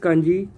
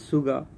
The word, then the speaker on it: 菅: And kunyomi, the Japanese pronunciation is Suge. But when used in names, it can be pronounced as Suga.